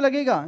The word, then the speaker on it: Nil: है उसके ऊपर जीएसटी लगता है जीरो रे ल के हिसाब से इसको हम ल प्रोनाउंस करेंगे जीरो प्रोनाउंस नहीं करेंगे ध्यान रखना इसको हम